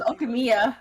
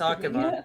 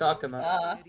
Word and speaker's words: Akuma: No, it was Okamiya. No, it's Akuma. It's Akuma. I was saying it wrong this whole time.